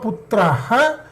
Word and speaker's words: पुत्रः: There is a Visarga after Putra also, right? Is there a Visarga after this? Why are you not pronouncing this? Are you able to see this? Are you able to see this? Mama Putraha Madavaha. Mama Putraha Madavaha.